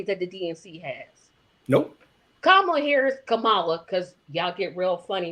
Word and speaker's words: Kamala: Kamala, because y'all get real funny about how her name is. No, her name is Kamala.